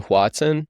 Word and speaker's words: Hoatzin: All right, well, should we get into the am I saying it right, the Hoatzin?